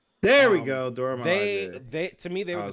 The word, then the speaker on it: Milaje: The Mirage. The what? The Miraji. Yeah, is that how you say it? Nora Miraji? No, we're both getting it wrong, and we're both gonna get canceled for this. Cool. But no, the Dora Milaje.